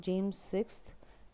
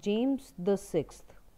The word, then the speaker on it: James VI: बहुत सारे बच्चे, बेटा this is not James VI, it is to be pronounced as James the Sixth.